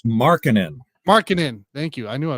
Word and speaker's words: Markkanen: I always say this name wrong. Was it Laurie McCarkin? I believe it's Markkanen.